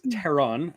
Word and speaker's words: Theron: teron by the way is it teron really is that how it's pronounced it's it's that um Germanic hard th uh that makes sense